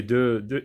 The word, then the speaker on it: deux: Ou bien le mot deux, par exemple. Deux, un, deux. Vous avez un X, mais il ne se prononce pas, surtout à la fin des mots.